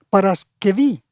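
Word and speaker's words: Παρασκευή: griego moderno claro que ahora en griego moderno se dice paraskevi y ese nombre preparación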